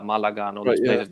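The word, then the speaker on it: Málaga: But Richard knows in the south, Cordoba, Sevilla, Malaga, and all these places. This is the Spanish pronunciation, by the way.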